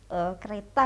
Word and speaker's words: Qreeta: Kereta ya? Gimana membacanya? Kereta ya, kereta. Kereta. Cuman pakai Q.